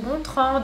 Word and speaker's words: Gontrand: a ta crush bonjour je m'appelle contrant mais ça se prononce gontrande et salut je suis